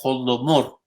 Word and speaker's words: Holodomor: Los ucranios, en el idioma ucranio, crearon una palabra que se pronuncia Holodomor, que significa asesinados por hambre, por los rusos.